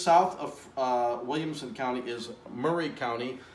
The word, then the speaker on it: Maury: of Williamson County is Murray County it looks like Maury but it's pronounced Murray and next to that